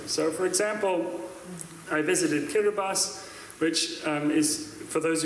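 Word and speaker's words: Kiribati: So, for example, I visited Kirbas, which um is for those of you who don't know how it's spelled, it looks like Kiraabati, but it's spelled Kirabas.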